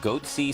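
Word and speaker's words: Goatse: getting the goatsy picture they're called goatsy security is that my pronouncing that correctly yeah that's right we're analyzing coverage from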